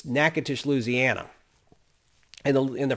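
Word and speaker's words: Natchitoches: c a t o c h e is pronounced nakatish though it might look like nachotoches it's nakatish louisiana in the in the french settlement of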